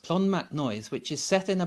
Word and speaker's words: Clonmacnoise: Another place that I absolutely loved was a place called Clonmacnoise, which is a funny name, but that's how it's pronounced, Clonmacnoise, which is set in a bend of the